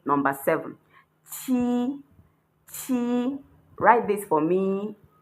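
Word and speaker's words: 七: How to say seven is chi. The same thing you say when you are saying Q when you are reading the Chinese alphabet.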